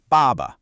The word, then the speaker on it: 爸爸: The first syllable, ba, is a fourth tone. It's sharp, it's a decisive fall in pitch, almost like a command, ba. Then the second syllable is a neutral tone, so it's light and unstressed.